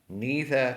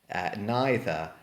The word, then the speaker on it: neither: Neither and either. Sometimes pronounced neither and either. Neither, either, neither, either. Doesn't matter on the pronunciation, they mean exactly the same.